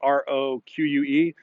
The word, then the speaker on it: Roque: I think that's how you pronounce her last name, or Pat Rock. It's Roque.